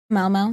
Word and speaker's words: Mau: Mao, is that how you say his name? Mau, yeah. M-A-U, Mau.